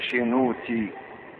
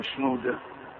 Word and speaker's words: شنودة: حتى اسمي انا، اسم بالبحيري شينوتي، تي اخره، تي بالصعيدي بتبقى داء، فشنو داء نطق الصعيدي بالبحيري شينوتي. والأنبا شنودة القديس كان صعيدي برضه، فكانوا بيندهوله باسم شنودة لأن في الصعيد بتتنطق كده، زي مثلا أفنوتيوس بتبقى بالإبطي أفنوتي، بالصعيد ببنودة.